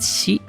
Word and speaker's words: 四: Kalau empat itu ada yon. Oke, kalau cara baca keduanya ada si yang ngyonin jadi ngikutin rumus yang tadi yang yon.